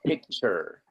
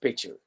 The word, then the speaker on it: picture: Entonces, esa T sirve para saber que se pronuncia ch, como en choza, chucha, chacha, checho. ¿Ok? O sea que no me vayan a pronunciar esa T, no digan picture, no. Don't be tacky. Don't say picture. Just picture.